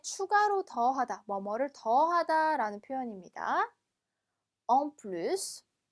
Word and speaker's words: en plus: en plus, en plus. 그렇죠? 얘는 뒤에 s까지 발음해 주셔야 돼요. 예외적으로.